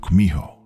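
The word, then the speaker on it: 구미호: In Japanese, you've probably heard of it as Kitsune. Though in Korean, it's pronounced Kumiho.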